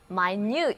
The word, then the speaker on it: minute: 节，而且字母 I 和 U 都不再读